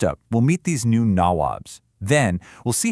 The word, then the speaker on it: nawab: And they even got a nickname for themselves, nabobs. Now, this is basically a British mispronunciation of the Indian word nawab, which means a local prince or ruler.